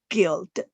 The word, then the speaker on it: guild: You would, maybe you hesitate to pronounce it, but it is guild.